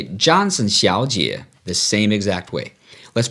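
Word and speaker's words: 小姐: miss well you say Xiao Jia now that's Xiao third tone Jie third tone remember though remember when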